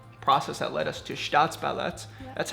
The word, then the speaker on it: STAATSBALLETT: Just because it was a very organic, natural, ambiguous process that led us to STAATSBALLETT. Yes. That's how you pronounce it.